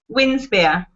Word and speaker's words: Winspear: Winspear.